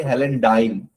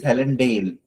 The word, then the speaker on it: Helendale: They didn't say Helendile. But in between he says, is it Helen's Vale? No, she says Helendale. Then he says, okay, is it Helendale after spelling it?